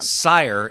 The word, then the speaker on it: Cyre: Sire is Cyre. That's how it's spelled.